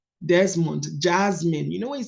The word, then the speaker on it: Desmond: And he said, every time, the laws of English is this, every time you see an S before an M, it's actually pronounced as Z.